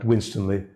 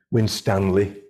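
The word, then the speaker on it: Winstanley: gerard winstonley um and you do pronounce it i'm glad winstonly not as they do in hitching when stanley um derek winston is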